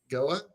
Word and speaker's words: Goa: So it's like literally whatever they want they could just kill Goa or Goa. That's how you say it right. Goa. Goa is her name. Yes.